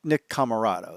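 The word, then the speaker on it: Nick Comoroto: to aaron solo and nick camarado nick camarado that's what it is i keep saying it wrong congratulations on them signing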